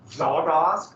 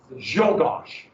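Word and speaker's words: Czolgosz: I'm mispronouncing it a little bit, but I want to pronounce it like Zogos, but it's shocked. Jogosh.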